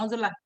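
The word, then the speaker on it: عزلة: Kenapa harus beruzlah? Bacanya uzlah Ustaz.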